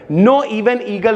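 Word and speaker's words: Knoevenagel: उसके बाद भैया अब यहां पे देखो यहां पे के साइलेंट है। नो इवन ईगल रिएक्शन है भाई।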